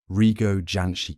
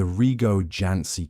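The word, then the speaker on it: Rigó Jancsi: Rigo Janci cake.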